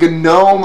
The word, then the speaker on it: GNOME: they're dumb witches now the comments saying gnome doesn't have a hard g it's a soling isn't it i know what just once per video now but i am going to call it gnome until somebody tells me differently because you get that